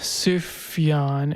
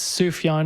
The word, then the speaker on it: Sufjan: just looked up the name suffion and it says it's sufjan it's persian name uh it's a islamic